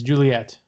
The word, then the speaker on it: Joliet: plant in uh i'm not sure how you say it's joliet joliet illinois you think it's juliet juliet yeah yeah yeah and uh of